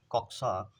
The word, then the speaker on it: कक्षा: तो चूंकि ये छा जो है क और सा से मिलकर के बना है, तो इसलिए इसका शुद्ध उच्चारण होगा कक्षा, इसलिए विकल्प डी हमारा सही हो जाएगा।